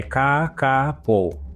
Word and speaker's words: Kākāpō: Então a pronúncia correta em Maori, e aí eu vou dar o meu melhor, tá? Não sei se eu vou conseguir, como o pessoal explicou, é Ka-ka-po.